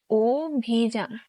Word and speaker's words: অভিযান: বাংলা অধ্বনি উচ্চারণের নিয়ম: শব্দের প্রথমে যদি অকার থাকে এবং পরে রস্বই অথবা উকার থাকে, তাহলে স্বরয়ে অকারের উচ্চারণ ওকারের মতো হয়। যেমন অভিযান, এর উচ্চারণ হবে অভিযান।